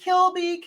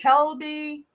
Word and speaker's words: Kilby: name the correct way how do you pronounce it is it Kilby Kelby what is it I pronounce it Kilby okay cool yeah he'll be and Kilby is the name Kilby